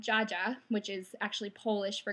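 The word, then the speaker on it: dziadzia: grandpa my dad's side has always been called Jaa which is actually polish for grandpa um it's actually spelled DZ a DZ a and it's pronounced like j a j a Jaa uh so what do you call the wield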